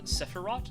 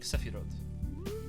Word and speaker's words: Sephiroth: This is not Sephiroth, this is like Sephiroth. It's like a long O sound.